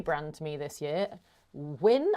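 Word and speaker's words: UYN: Wyn, I think it's pronounced, U-Y-N.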